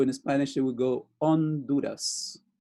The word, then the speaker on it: Honduras: For those who know Spanish, you know that the H is silent. So in Spanish, it would go Honduras, Honduras, no H.